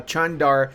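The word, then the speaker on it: Çandar: all right Lads and I know it's not chandar it's Chand that's how you're supposed to pronounce it he oh we can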